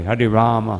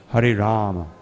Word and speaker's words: Hare Rama: He chants the Sanskrit mantra, Hare Krishna, Hare Krishna, Krishna Krishna, Hare Hare, Hare Rama, Hare Rama, Rama Rama. It's also not Hare Ram, no. Hare Rama, no. 32 syllables, not 28 syllables.